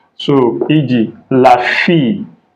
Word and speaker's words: fille: So e.g., la fille, like feel, to feel something, fill in the gap. La fille, E is silent.